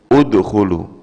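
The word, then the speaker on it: ادخلوا: dakhala artinya masuk Nah kalau Hamzah yang pertama ini bacaannya apa Bu udkhulu yang pertama ini bacanya udkhulu dari mana tahunya dari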